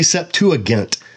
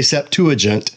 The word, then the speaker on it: Septuagint: Right off the bat, some people say Septuagint. I say Septuagint. That's just because that's how I learned to pronounce it. I don't know which is original. Pronounce it how you want.